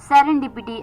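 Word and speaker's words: serendipity: सेरेन डीपीटी एस ई आर इ एन डी आई पी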